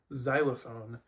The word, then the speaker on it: xylophone: So like with the English word xylophone, Yeah, it starts with an X, but it makes a Z sound because we don't like consonant clusters at the beginning of words.